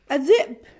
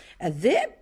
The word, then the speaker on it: الذئب: الذئب، الذئب صديقي مرحبا يا ذئب. الذئب لام شمسية تكتب ولا تقرأ.